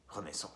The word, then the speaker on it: Renaissance: There's my review of Apashe album, Renaissance. Renaissance. I should pronounce it in the French way.